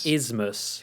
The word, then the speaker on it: isthmus: I'm just going to say isthmus. Isthmus. But there's a weird th sound in there, and I can never say it right.